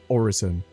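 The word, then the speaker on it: Orison: CIG have confirmed that it is Horizon, meaning a prayer, sort of to tie into Crusader's benevolent corporate image and their headquarters in an almost heavenly location.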